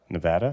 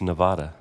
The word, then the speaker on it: Nevada: las vegas in uh nevada nevada ah both of you guys are wrong it's nevada nevada nevada nevada i went i went